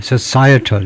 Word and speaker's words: societal: societal 이렇게 하네요. societal네 그래서 두 번째 음절이 있다라고 봐야 되겠네요.